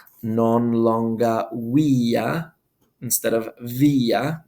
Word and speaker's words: via: It'll say non longa via instead of via. The V would make a W sound.